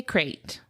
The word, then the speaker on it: krait: And I picked the banded sea crate. And when you say crate, it's a type of snake. It's not a box. We're not talking about boxes. K R A I T. Crate.